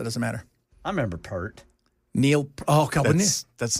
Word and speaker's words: Peart: Neil Peart. The only kind of Peart that's good is for your hair. I don't have any hair, so it doesn't matter. I remember Peart.